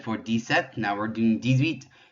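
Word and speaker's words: dix-huit: You'll notice there in the middle, you're hearing a little bit of a Z sound. That's because of the X. Since the H is silent, we're making a connection, it's called une liaison, with that X by making a Z sound, so 18.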